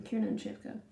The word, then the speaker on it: Kiernan Shipka: No, that is how you pronounce her name, Kiernan Shipka.